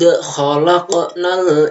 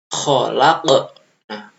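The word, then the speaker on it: خَلَقْنَا: Nah, kemudian yang selanjutnya adalah khalaqna. Kholak, nah kof, bukan kholakna ya, tapi kho ya, kho itu ada seraknya ya, kho.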